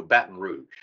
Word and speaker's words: Baton Rouge: going on we're doing the M Mambo in Baton Rouge and there's like I think a 75% chance of rain that morning and that's how you say it Joe Baton Rouge yeah yeah yeah well done the pronunciation what is this Marty girl thing I